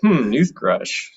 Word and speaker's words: Nuthresh: and i was like newthresh uh rhymes with toothbrush you know i was